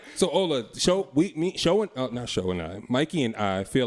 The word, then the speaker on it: Ola: I just said her name, Ola. That's it. Hola.